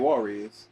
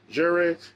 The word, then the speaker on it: Jerez: It ain't Juarez. It ain't Juarez. Jerez.